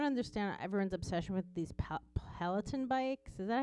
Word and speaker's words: Peloton: like i don't understand everyone's obsession with these pelaton bikes is that how you say it it peloton yes and he was like everyone's obsessed with